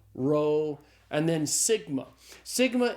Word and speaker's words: sigma: Sigma is the S sound in Greek. So sigma is pronounced like the S in the English word study.